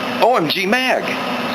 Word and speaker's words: OMG Mag: The proper way to say that is OMG Mag.